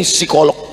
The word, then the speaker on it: psikolog: Ternyata Ibu ini psikolog. Tulisannya psikolog. Bacanya p-nya hilang. Psikolog.